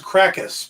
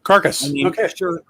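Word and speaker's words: Karkas: one i'm thinking of i always thought it was krakus but it could be carcass it is k-a-r-k-a-s so carcass sure he could be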